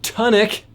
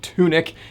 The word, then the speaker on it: Tunic: game it's time for a little bit of tonic i'm just kidding i know it's pronounced tunic this is sixteen hundred